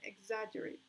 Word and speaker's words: exaggerate: Now we have superficial and exaggerate. Exaggerate. Superficial. Exaggerate. Superficial. Exaggerate. Exaggerate. Estoy diciendo exaggerate. Si fuera la tercera, diría exaggerate. Y estoy diciendo exaggerate. Exaggerate. En la segunda sílaba.